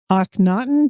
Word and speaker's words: Akhenaten: Well, you won a Grammy for Akhenaten. Did I pronounce that Yes, correctly?